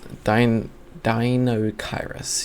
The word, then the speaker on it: Deinocheirus: So Deinocheirus, yeah, that is how you pronounce it.